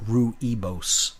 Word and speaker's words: rooibos: have spelled Roo IBOs pronounced huevos looks like rooibos but it's pronounced rooibos and it's just it's fantastic some